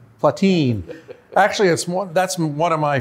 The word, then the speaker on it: Platine: the new Beretta 2 and legacy Platine, often mispronounced in Indianapolis. Well, it might be. It's Platine. Platine.